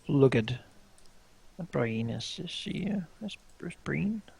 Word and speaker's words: Brienne: Co will we look at Bri is she Breen how do you say grith Brien Brien Bri Brienne right at Brienne as she sneaks in but